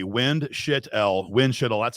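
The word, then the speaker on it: Windschitl: The easiest way is to do it phonetically. Windshit.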